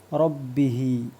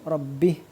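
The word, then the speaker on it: رَبِّهِ: ഫസഖ അൻ അംബി അംരി റബ്ബിഹി റാഇന് കസർ വരുമ്പോൾ ലി ര ര ശബ്ദം ആയിരിക്കും മുൻപ് പറഞ്ഞിട്ടുണ്ട് അംരി റബ്ബിഹി ഇവിടെ നിർത്തുമ്പോൾ റബ്ബിഹ് എന്ന് നിർത്തിയാൽ മതി റബ്ബിഹ് അപ്പൊ ഈ മദ്ദിന് പ്രസക്തിയില്ല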